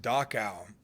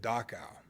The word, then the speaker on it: Dachau: I was reading an article about, I think it's pronounced Dachau, and it was one of the first concentration camps the Germans put up before World War II.